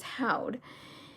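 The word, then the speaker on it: haud: And then I was like thinking in my mind how it's pronounced. And I was like, how'd? I was even pronouncing it I think the way it's said is how'd.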